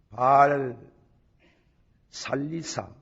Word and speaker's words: 바알 살리사: 한 사람이 바알 살리사, 발음을 그래 합니다. 바알을 먼저 하고 살리사, 바알 살리사에서부터 와서 처음 익은 식물고 보리떡 20개와 20과 또 자루에 담은 채소를 하나님의 사람에게 드린지라.